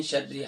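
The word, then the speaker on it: شرّ: وَمِن شَرِّ حَاسِدٍ، ہا نہیں ہے، ہا ہے، اور پھر شین کے بعد را مشدد ہے.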